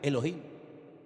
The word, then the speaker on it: Elohim: Y el primer nombre que conocemos de Dios y empezamos a leer la Biblia desde el principio es un nombre que se pronuncia Elohim.